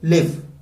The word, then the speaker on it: live: तो इसका प्रोनाउंसिएशन क्या होगा LIVE का? लिव।